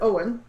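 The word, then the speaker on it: Eoin: i met my husband owen so yeah that's how you pronounce his name in case anybody has been reading my blog and see this name that's e-o-i-n yeah it's owen that's my husband and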